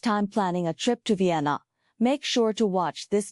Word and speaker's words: Vienna: Additionally, note that Vienna's English pronunciation is Vienna, emphasizing the V sound at the beginning, not WT to achieve.